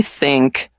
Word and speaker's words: think: Can you say think? Think. Think. No, wait. Think. You're close. Here's the trick. Put your tongue between your teeth.